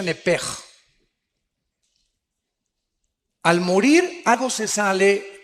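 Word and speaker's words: נפש: Apúntala, como suena nepesh, con SH. Se pronuncia nepej.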